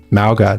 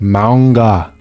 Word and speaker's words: Mauga: Oh yeah, but Mauga, that's not how you pronounce his name. It's like Manga. That's like the proper pronunciation.